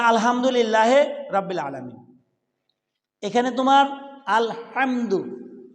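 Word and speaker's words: الحمد: রাব্বিল আলামিন, এখানে তোমার আলহামদু কি বলতে হবে? আল হামদু, হা হা অক্ষরটা উচ্চারণ করতে হবে। হা বলো, অর্থ পরিবর্তন হয়ে যাবে।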